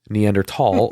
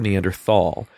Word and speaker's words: Neanderthal: It What's was it's socially acceptable or scientifically acceptable to say either Neanderthal or Neanderthal.